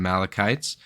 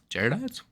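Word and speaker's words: Jaredites: Americans are Israelites and Malachites that uh came I think I'm saying it wrong. It's not Malachites, Gerodites.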